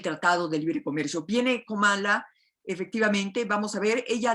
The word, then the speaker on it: Kamala: la misma Kamala, que además dicen que se pronuncia Kamala Harris, no se ha enfrentado directamente al presidente